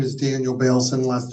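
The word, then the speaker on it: Baylson: Uh, my name is Daniel Bailson. Last name is spelled be as in boy a y l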